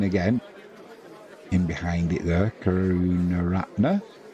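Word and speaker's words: Karunaratne: in behind it there karuna Ratner or karat nuner as I was calling him yesterday occasionally oh dear Jimmy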